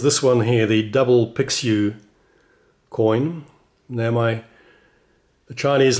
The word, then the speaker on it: Pixiu: one here the double picks you coin now my the Chinese lady the Perth Mint tells me it's pronounced pshew so there it is